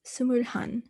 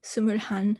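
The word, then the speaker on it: 스물한: would put hana but we don't really use hana as a double syllable it actually condenses to han so it's sumur han so if you were 21 you'd say sumrahan and then which is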